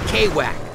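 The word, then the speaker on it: Kwak: It's Mr. right? Call me K-Wack. That's how I roll over here. Nobody can pronounce my name right.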